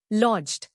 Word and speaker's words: lodged: लॉज्ड. नया लफ्ज लॉज्ड. इसको तोड़ते हैं लॉज्ड. जोर लॉज्ड पर है. LODGED. लॉज्ड left lying and not used.